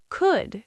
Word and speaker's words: could: W A L K walk could, should would None of these have an L sound.